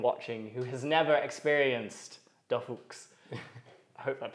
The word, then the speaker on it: DorFuchs: Actually, I like this pronunciation better than most Germans pronouncing the name. Yes! Because most Germans who are not from Saxony don't understand the Saxon accent, and they read it and they say like, Dorfuchs, but it's just Dorfuchs, so it's short O in the, so okay.